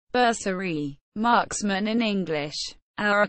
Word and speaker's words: Bersaglieri: the basalar Italian pronunciation berserie Marksman in English our a core of the